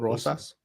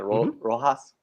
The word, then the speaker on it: Rosas: How do you say his last name? You said it right. Raul Rosas. Rosas, right? Rosas, right? I keep saying Rojas because that's like what's familiar to my tongue, Rojas.